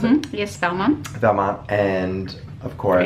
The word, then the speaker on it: Valmont: as well as Valmont, is that how you pronounce it? Yes, Valmont.